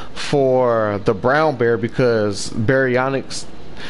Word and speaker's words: Baryonyx: Like I use a baryonyx for the brown bear because baryonyx, the first syllable in that sounds like bear, berry, you know.